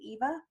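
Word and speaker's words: Yva: called Y VA and I think they try to pronounce it Eva I it doesn't look like even to me but anyway it's their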